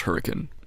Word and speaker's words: Hurricane: Also, I've been saying it wrong this whole time. It's pronounced Hurricane.